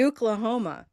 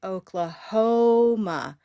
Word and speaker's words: Oklahoma: If it were stressed on the first syllable, it would be Oklahoma. Now, it happens to be stressed on Oklahoma.